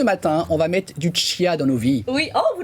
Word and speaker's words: chia: Et donc ce matin, on va mettre du chia dans nos vies. Oui, vous l'avez très bien Mais prononcé. il paraît qu'on dit chia. On dit C'est chia, ça.